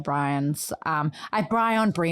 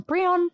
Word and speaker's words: Brion: me for her sister, Dr. Bryan's. Brion. There we go. Brion. I think it's Brion. It is. I always make it like way more Brion every time I say her name. So you're doing it right.